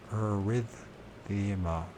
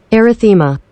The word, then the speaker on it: erythema: old sunburn, and so arrhythmia. Let's make sure I'm pronouncing that right. Which I'm sure I'm not, because I haven't. Erythema. Erythema, that's what it is.